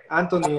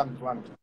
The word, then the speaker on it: Antoine: Anthony, Anthony, Anthony, Tony. No, mucha gente me dice Tony porque es un diminutivo de Antoine. Antoine. Antoine es lo mismo que Antonio en español. Pues pronuncia Antoine.